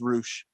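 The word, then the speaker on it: Rush: i think so yeah i hate that it's pronounced roosh throws me off so much big fan of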